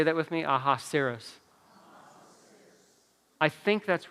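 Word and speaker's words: Ahasuerus: by a different name he goes by his Hebrew name that's how they pronounce it so it's aha serous can you say that with me aha seros I think that's right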